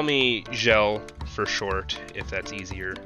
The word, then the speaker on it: Sjellokat: You can call me Gel for short, if that's easier. Gel? All right. Gel. Sounds good. Yeah. S-J is pronounced like Jacques, like the J in Jacques.